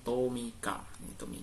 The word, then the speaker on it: Tomica: Ini kan bacanya Tomika ya, Om Sob ya. Ini Tomika, Om Sob.